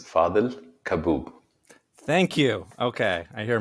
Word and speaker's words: Fadhel Kaboub: own name yes absolutely my name is fadel kaboob thank you okay i